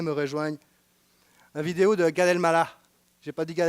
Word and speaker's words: Gad Elmaleh: Parce que nous, Massika, qui est une des adjointes sur l'étage, qui vient d'Algérie, m'a dit non, c'est pas Gad Elmaleh, c'est Gad Elmaleh.